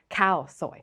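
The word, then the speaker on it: khao soi: spelling of cow soy but what is that H doing there nothing right you cross it out and it still reads exactly the same cow soy so why do we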